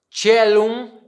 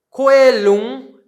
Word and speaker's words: caelum: A pronúncia que eu estou utilizando é a pronúncia eclesiástica da língua latina.